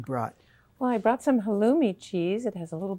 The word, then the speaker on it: halloumi: Have you ever tried halloumi cheese? No, tell me again what it is. It's pronounced halloumi, and it's a goat Goat.